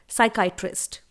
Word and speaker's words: psychiatrist: और दिमाग के डॉक्टर को मेडिकल लैंग्वेज में इंग्लिश में बोला जाता है साइकाइट्रिस्ट। स्पेलिंग देखिए, PSYCHIATRIST। साइकाइट्रिस्ट की स्पेलिंग में P हमेशा साइलेंट होता है।